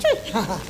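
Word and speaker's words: Twi: T-W-I, but it's spelled tree. It's spelled T-W-I, but it's pronounced tree.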